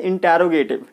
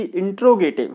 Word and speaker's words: interrogative: इंटरोगेटिव, ठीक है। इंटरोगेटिव वाक्य कहते हैं। अच्छा, कई बार आपने सुना होगा कि इंट्रोगेटिव, ठीक है।